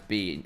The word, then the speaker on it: Bin: I mean, the best top laner in general is Bean. It's Bean. Now he's been pronouncing all the top laners. But Bin is just best at everything at the minute.